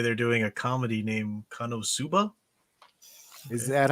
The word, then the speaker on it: KonoSuba: Matchstick says for the Weeb Watch this Sunday they're doing a comedy named Konosuba. Is that how we've heard it pronounced many different ways at this point? He says Suba pronounced like tsunami, so Konosunami?